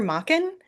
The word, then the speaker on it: Machen: Um I did some actually I pronounce his name wrong, but Arthur Machen, who I Okay. was calling Machen for like 30 years.